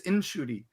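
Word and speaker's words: Ncuti: Well, then his mom told him that he'd been pronouncing it wrong, so you were fine. Oh, okay. I'm like, everybody's messing it up. Like, his mom told him, "No, your name is Inshuti."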